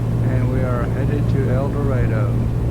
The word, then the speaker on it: El Dorado: we are headed to El Dredo. El Dorado, Arkansas, not El Dorado, other places. Cases spelled the same way but pronounced differently.